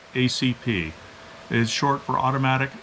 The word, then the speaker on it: ACP: ACP as a narrator you don't say 45 app it's 45 ACP it is short for